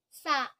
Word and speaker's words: စ: Sa long. Sa long is pronounced sa.